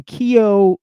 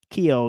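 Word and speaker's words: Keio: Hiro Masa Mace from Kio University in Tokyo. That's spelled K E I O. Kio University in Tokyo.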